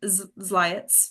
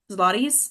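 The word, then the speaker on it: zlotys: David sides, handsome some ziets. Is that how you say it? Um, zlotties.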